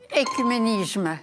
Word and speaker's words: œcuménisme: Écuménisme. L'œcuménisme, absolument, Nicole. Ça commence par un O alors que ça se prononce E.